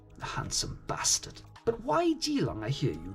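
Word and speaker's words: Keelung: However, strangely enough, the most significant celebrations of all takes place in a city called Jilang. And yes, I realize that starts with a K but is pronounced with a J.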